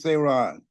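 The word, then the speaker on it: Saron: again please for me say Ron say my name and say yeah say okay say hi my name is say Ron and do I have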